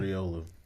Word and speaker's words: Riolu: Can Yeah, you not hear Ragu. me? Ragu sounds right. Ragu. I just hatched a baby Ragu out of a 10K, It's man. Riolu.